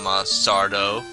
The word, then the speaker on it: Sardo: So last time we got the rod from Sardo, accent on the dough.